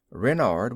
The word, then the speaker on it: Renard: Renard with the accent on the Ren."